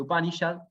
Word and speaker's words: Upanishad: cerca, Sad o Yad, porque la S con el puntito tiene una H, que a veces la van a ver escrita y a veces no, pero se pronuncia Upanishad.